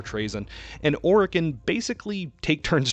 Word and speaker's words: Trazyn: Over the course of thousands of years, Trazyn, the audiobook pronounces as Trazyn, but I prefer Trazyn, and Orican basically take turns trolling each other.